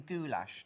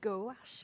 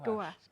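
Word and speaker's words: gouache: you were mostly in goulash don't you which I thought was hilarious I I think it's pronounced goash isn't it goash is it a French word g to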